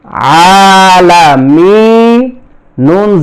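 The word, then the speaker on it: العالمين: উপরে এক জবর এখানে জজম দিতে হবে তাহলে উচ্চারণটা হবে আলামিন এখানে মিনিয়া মিম মাদের হরফ আর নুন হচ্ছে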